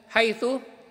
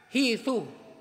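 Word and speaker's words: حيث: Mathalan, haythu, yung salitang haythu ba'dal Arabu yakulu, hithu. So yung haythu, binabasa ng iba hithu. Wa ba'dul Arabi yakulu, haythi o hithi.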